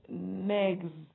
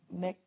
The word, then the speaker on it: next: So it's not negs. It is k, t. So you have next.